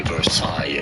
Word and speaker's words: Versailles: Definitely silent, so pronounce it Versailles, but it'd be fine to say Versailles if you cannot pronounce the French R.